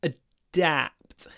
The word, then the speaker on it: adapt: so ad to adapt just remember when you're pronouncing the first syllable start smiling because you need to adapt pronounce the da with stretched lips adapt adapt we also